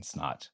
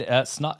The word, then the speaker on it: Snaadt: I always say my name is Snaadt. It rhymes with odd.